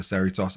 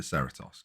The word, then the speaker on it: Cerritos: call it the cerritos i know it's a spanish word uh i'm not spanish um i'm also not american therefore i don't pronounce it in the same way you do so i'm going to call it the ceratos because that is exactly how it's spelled for me but yeah so this